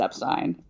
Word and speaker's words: Epstein: Does not change that Brian wanted his name pronounced Epstein.